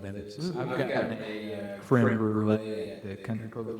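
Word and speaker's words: crème brûlée: I've gotten a creme brulee at the country club a few times. It rhymes with soufflé.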